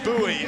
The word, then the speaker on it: Bowie: There is Tori Bowie, as we've been told to pronounce her name.